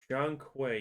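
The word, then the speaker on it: Zhong Kui: So, they're keeping their Blackth thing uh with this new one called Jang Quay, if I'm pronouncing that right. With it being a Black Myth game, it seems like they're Jeang Quay.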